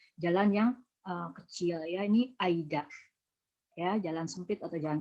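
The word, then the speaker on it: 間: Kanji ini dibaca apa nih ya? Nah, ini dibacanya Aida.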